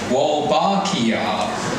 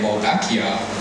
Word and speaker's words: Wolbachia: And it's pronounced Wbakia. Um, although some say Wbakia, Jack and Steph.